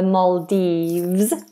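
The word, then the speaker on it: Maldives: The Maldes. Make sure that V is vibrated.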